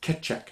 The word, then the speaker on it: Kecak: Its proper name is Kecak. That's spelled K-E-C-A-K.